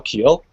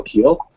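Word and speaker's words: Kehl: I'm joined by Danielle Keel hello Danielle Hi how are you doing go did I say the name right H it's actually pronounced like the vegetable kale but you know okay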